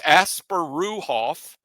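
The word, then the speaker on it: Asparuhov: in there, but yes, Asparuhoff is, that's it. And it's a V at the end, maybe not two Fs, but there's not much of a difference there, right?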